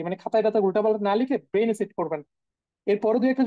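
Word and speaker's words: null: হচ্ছে আমরা জিরো বলি ইংলিশে সেটাকে বলতেছে ধরেন নূল সেম ভাবে দেখেন ওয়ান ওয়ান কে বলতেছে আইন্স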